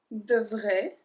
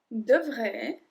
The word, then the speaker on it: devrait: So here you can see that all of them have the same pronunciation. Devrait. Devrait. That's it. It changed a bit with the S or the T, but the pronunciation is exactly the same.